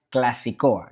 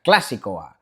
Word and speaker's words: Klasikoa: Yepa, chavales, ayer algunos suscriptores vascos me decíais en los comentarios que no se pronuncia clasicoa, que es es drúcula la palabra, o sea, clasicoa.